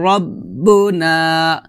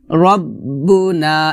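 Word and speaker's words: رَبُّنَا: না হবে কফ কলু রব্বুনা রব্বুনা এখানে রাব্বুনা বলা যাবে না বলতে হবে রব রব কলু রব্বুনা কলু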